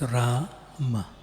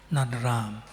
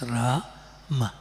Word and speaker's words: Rama: there 32 syllables and the word ram is pronounced as rah long a and ma short Okay. Not Ram, not R A A M.